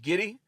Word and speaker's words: Giddey: Josh Giddey rhymes with Diddy.